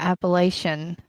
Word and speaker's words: Appalachia: Um, both Adam and I are from the mountains of Virginia, the Appalachian Appalachian. Appalachian. We had that discussion before on how to say it and it is Appalachia.